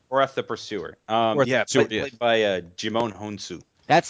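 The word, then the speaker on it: Djimon Hounsou: Played by Jimon Honsu.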